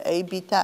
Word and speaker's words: Abita: i druga woda Abita, nie wiem, czy to się wymawia Abita, ale pisze się A-B-I-T-A po angielsku mówię.